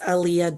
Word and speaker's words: Aleah: It's Aaliyah and my name is on the screen if you can see it, but if not, I can spell it. Um, it's A L E A H. That's author. So, it's Aaliyah author for the Facebook and Tik Tok account.